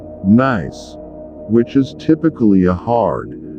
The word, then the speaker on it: gneiss: A craton is part of Earth's crust which has been stable for nearly 1 billion years or so, and gneiss pronounced gneiss, which is typically a hard, gray rock with long, white or gray ribbon-like bands.